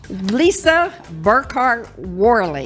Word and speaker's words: Lisa Burkhardt Worley: Lisa Burkhardt Worley.